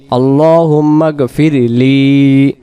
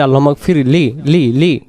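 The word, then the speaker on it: اللهم اغفر لي: যেমন এখানে লি টান দিব। লি শব্দের অর্থ হে আল্লাহ আপনি মাফ করুন কাকে? লি আমাকে। আল্লাহুম্মাগফিরলি লি যখন টান দিব তখন দুইটি অক্ষর আদি হবে। যদি বলি আল্লাহফলি তাহলে না টান না দরকার কারণে অক্ষর তখন বাদ চলে যাবে।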